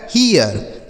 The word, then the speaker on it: hear: HEAR, एच से हो गया ह, ई ए का उच्चारण ईय और आर से हो गया र, लिखा गया है हियर।